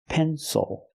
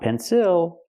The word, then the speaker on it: pencil: But if you look at a word like pencil, the stress is on the first syllable. It is not pronounced ill, it is pronounced ol. Pencil. Not pencil, but pencil.